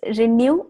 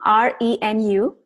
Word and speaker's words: Renu: Okay, so it's Renew, Renu, because that's my name, and that's I use it as Renew as word.